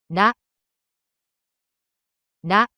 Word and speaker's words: ら: In Japanese, R sounds in between R and L. It's a simple light tab of tongue. ら、ら、 The pronunciation of character